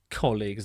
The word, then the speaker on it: colleague: you can see two colleagues they're working together looking at something on a tablet computer you pronounce the second part of the word league league as in the Premier League the football league here are some example